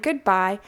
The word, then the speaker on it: goodbye: there it is and that means that by is the part that is stressed so this follows the